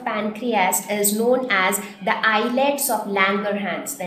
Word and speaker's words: islets: was it named the eyelets of Langer hands now this is how we pronounce it eyelets now this was called